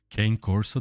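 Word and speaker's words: Cane Corso: had that big Kane Coro I could tell Kane Corso that's how you pronounce it he was a sweetheart English anyway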